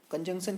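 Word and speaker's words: conjunction: Spelling है CONJUN। तो ये जो N है ना, इसका ध्यान रखना, TION। तो इसको आप लोग इंजेक्शन मत पढ़ लेना, ये कंजंक्शन है, N आता है बाद में।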